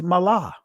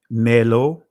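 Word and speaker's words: מלא: what that word is mala and I'm pronouncing it from the ancient Hebrew all right the Hebrew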